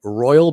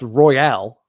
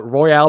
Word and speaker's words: Royale: apparently I've been saying Royal Benjamin she said there's an e at the end it's pronounced Royale like Royale with cheese you're I'm embarrassing myself